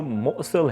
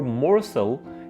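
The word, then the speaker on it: morsel: Pronunciation देख रहे होंगे, तो इसमें जो मोसल है, मोसल, ये है ब्रिटिश प्रोनाउंसिएशन, और मोरसल ये है अमेरिकन। क्योंकि जो ब्रिटिश लोग हैं वो जब एक वॉल साउंड के बाद आर आता है तो उसको नॉर्मली नहीं बोलते, लेकिन जो अमेरिकन है वो आर को प्रोनाउंस करते हैं।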